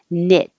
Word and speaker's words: knit: k is silent so anytime you see the k n at the beginning just get rid of the k and make the end knit and the vowel is